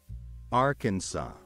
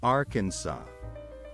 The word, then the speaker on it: Arkansas: say it all together Arkansas one more time Arkansas now let's split the word into syllables and then pronounce each syllable one by one are can so thank you for joining